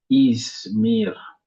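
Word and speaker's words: İzmir: Mais les noms de lié si c'est les noms dé lié a deux syllabes. Donc porte un accent sur la première première slab. Voici le nom des lieux. Ça c'est ismir. Ismir.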